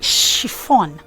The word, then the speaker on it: chiffon: That is chiffon.